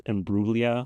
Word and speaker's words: Imbruglia: Oh, Emblia. Perfect. And I've actually learned it's immugia. I had to look on Wikipedia. I guess the G is silent.